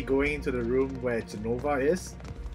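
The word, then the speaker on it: Jenova: So I guess we're finally going into the room where Genova is.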